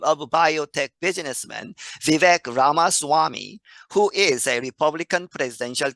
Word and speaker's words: Vivek Ramaswamy: The correct way to say his name is Vivek Ramaswamy.